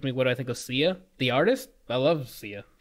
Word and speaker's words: Sia: silent I don't hey I'm not SIA its SIA okay I dread it